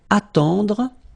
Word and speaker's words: attendre: Then attendre, attendre. Remember, final you don't insist on it, it just gives you the possibility to pronounce the dr, dr.